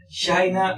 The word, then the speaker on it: China: China, recuerden, la pronunciación así es de esta forma. China. No tenemos che en inglés.